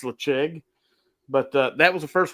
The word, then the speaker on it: Ledaig: Good, because I mean I've tried to tell people, how do you say Ledaig? It should say Ledig, but it's Lecheg. Yeah, it's Lecheg.